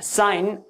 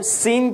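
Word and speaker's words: sine: काफी जगह पे इसका प्रोनाउंसिएशन जो है वो सीन थीटा भी होता है, कि ये जो साइन है इसके लिए प्रोनाउंसिएशन है theta. Okay, so सीन theta और यू कैन से साइन theta.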